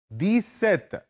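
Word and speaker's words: dix-sept: है वह 10 और सात का मुरक है द सेत डी आई एक्स एंड एसई पीटी 18 10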